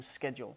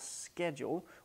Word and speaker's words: schedule: Je répète, I have a hectic, schedule ou schedule. Donc oui, ce mot-là se prononce des deux manières. Tu peux dire schedule ou tu peux dire schedule. Il n'y a pas d'erreur à dire d'un comme de l'autre.